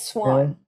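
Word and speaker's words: Siuan: oh my god it's so easy and it's so frustrating when you get it it's swan swan yeah swan sanchez yep samsung swan and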